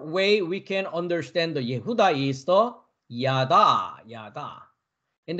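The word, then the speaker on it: יהודה: the Hebrew word number 363 Yehuda that's the pronunciation Yehuda Yehuda we can understand two different way I just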